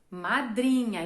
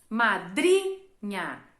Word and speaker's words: madrinha: Madrinha. E qual que é a sílaba tônica? Madrinha. É o dri.